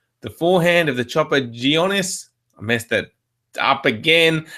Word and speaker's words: Gionis: Now, how do you pronounce that chopper's name again? Jonas. Jonas. There you go. Panagiotis. Gionis. Yeah. Gionis.